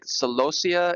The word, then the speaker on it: Celosia: Uh but I saw a couple of different ways that people or growers have pronounced this, but looks like Celosia is a uh common pronunciation for this for this flowering plant right here.